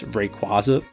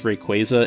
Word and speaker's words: Rayquaza: Also, I always pronounced this Pokémon as Rayquaza, but apparently it's Rayquaza, and I'm just not going to be changing how I pronounce it.